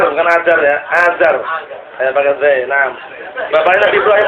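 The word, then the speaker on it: آزر: keliru ajarar ajar biar enggak ngantuk ya Antum Azar Azar bukan Azar ya Azar pakai Nam bapaknya Nabi Ibrahim alaih salam barak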